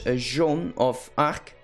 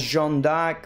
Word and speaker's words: Joan of Arc: Now, for her name, I've chosen the English way, and that is Joan of Arc. I know we could also pronounce it as Jeanne d'Arc or Joanna d'Arc, or there's a lot of things, but I think the majority of my viewers are English, so we might as well pick the English version.